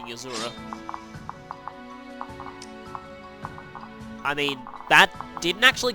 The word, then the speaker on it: Azura: in not bringing Azura. I mean, that didn't actually come out, right? Uh, basically no harm in bringing Azor actually is the right way to say it.